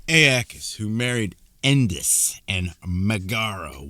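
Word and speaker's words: Aeacus: Ais Aakis Aakis who married Endis and Magaro was widely renowned for his piety.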